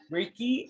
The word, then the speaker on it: Reiki: so um what is ricky ricky is and that's w uh is pronounced as ricky and is spelled as r-e-i-k-i ricky is a japanese